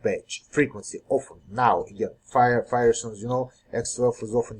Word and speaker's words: FHIR: at hl7 fire we so fire pronounce fire stands for f fast